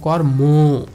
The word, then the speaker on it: কর্ম: সবসময় ওকার রূপে উচ্চারিত হয়, এজন্য আমি উচ্চারণ করার সময় লিখব কর্ম, কর্ম, অর্থাৎ এই কর্ম, এই অটা ওকার রূপে উচ্চারিত হবে, অর্থাৎ কর্ম বলা যাবে না, কর্ম না, কর্ম, কর্ম, ঠিক আছে?